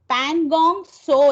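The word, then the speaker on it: Pangong Tso: visit in Ladakh are Pangong So Lake. Here in the first one, T is silent, so it is Pangong So Lake.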